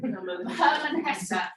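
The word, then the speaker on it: Hermann Hesse: Steppenwolf by I think you pronounced it more correctly than I did. Herman Hesse.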